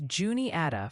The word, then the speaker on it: Juniata: Folks in Cabaris County, NC want to hear Cabaris and it's Juniata for Juniata County, PA. A bit earlier in the past hour, General North Carolina chat and the DMV were also very active. Juniata, I think I said Wanita, my bad.